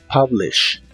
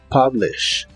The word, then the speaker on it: publish: publish que significa publicar la u se pronuncia como una a en esta palabra publish publish y usaremos el verbo